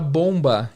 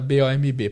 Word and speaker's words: bomb: um B A M esse bebê do final do Bomba é mudo você não fala Bomb você fala bom e o som do ó não é som de Ó tem mais um som de ar então a diferença de